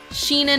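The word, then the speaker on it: Shyna: y n a and it's it's that um it's either Shina or Sheena and it's like Sheena narina I've been I've kind of settled on Sheena Nar Shina so I think it's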